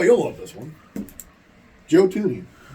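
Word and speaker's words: Thuney: Joe Tuni. Ah, Joe Tuni. Um, remembering how to spell it. T. Oh, yeah. Freaking Yeah. T. The freaking H is silent.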